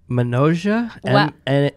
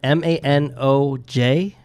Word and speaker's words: Manoj: I hope he can pronounce it. I hope it's Mahalaka. Manoja? M-A-N-O-J? Manoj?